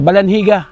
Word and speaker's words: Balandiga: Ah balaniga. Yun ang pronounce talaga doon pero G siya no?